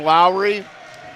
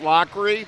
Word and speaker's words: Lockery: We called him Lowry, and it is pronounced Lockery, and we appreciate the clarification on that.